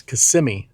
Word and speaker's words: Kissimmee: I'm sure you'll say something in the comments, but it's Kissimmee, not Kissimmee.